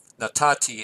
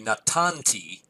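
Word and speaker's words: נתתי: So this is natati. It literally would be natanti, but I think the Hebrews didn't like to pronounce that, so they just dropped the noon out.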